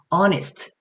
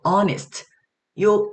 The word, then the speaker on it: honest: 그리고 또 뭐 honest 여기서도 honest요 h터는 여기서 어 소리가 나지 않고 뭐 그 외에도 pychology 그죠?